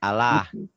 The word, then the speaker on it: Allah: Nah, Maci, cara membaca lafad Allah itu ada 2, Maci. Satu tabkhim, ini tebel. Dibacanya tebal. Tebal bunyi O. Ya, seperti bunyi O. Kemudian yang tarkik ini tipis. Seperti Allah, lillah, tipis.